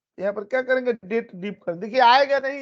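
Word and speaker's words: DATEDIF: खाली डीप होता है ऐसे कुछ लोग इसको डेटेड इफ पढ़ते हैं गलत है ये क्या है डेट डीप है दो डेटों के बीच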